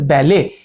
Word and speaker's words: ballet: Although there is no E and there is no L in it, but it is pronounced as ballet. A and D is not pronounced.